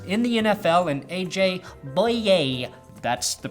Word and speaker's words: Bouye: Bouye. That's the correct pronunciation.